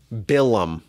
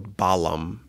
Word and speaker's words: Balaam: Next week's Parsha, we meet one of the strangest characters in all of Torah, Bilam, or Balaam, pronounced in English.